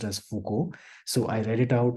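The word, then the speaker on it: Foucault: and we were doing a reading by Michelle Fuko and I didn't know that uh Fuko is supposed to be pronounced as Fuko so I read it out as fuk because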